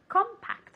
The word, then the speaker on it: compact: very good compact okay compact okay with the accent at the beginning compact one more time